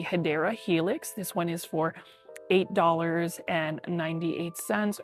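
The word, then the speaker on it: Hedera helix: And then you can even see right here, we've got our favorite, Hedra Helix, or the correct way to say it is the Hideera Helix.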